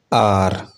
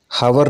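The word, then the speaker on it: hour: Silent H में है ghost, इसे घोस्ट पढ़ते हैं। Honest, honest. आर, आर, हावर नहीं पढ़ा जाना चाहिए।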